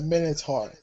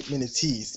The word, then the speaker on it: Minotaur: It's a minotaur. Minotaur. Don't say minotees.